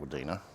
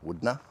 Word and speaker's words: Wudinna: Um I would I would pronounce it Wina, but it's apparently it's called Woodnner. And this is the showgrounds and you get these massive big sights.